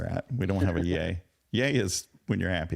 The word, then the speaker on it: Ye: new Happy New Year it's pronounced yay thank you very oh